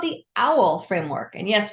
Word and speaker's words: AAUL: and it's called the owl framework and yes we pronounce it like owl the bird but it's really a-a-u-l and so let's just